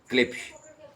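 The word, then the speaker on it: Klipsch: Then मेरा सबसे पसंदीदा ब्रांड क्लिप्स अब के एल आई पी एस H spelling है और सी एल आई पी एस इसकी प्रोनाउंसिएशन है।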